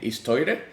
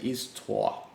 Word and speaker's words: Histoire: to solve certain issues the tool is called is tua and i'm really holding my venezuelan necessity of saying is toire but it's in french just as vid and view okay it's uh pronounce it is tua okay and the tool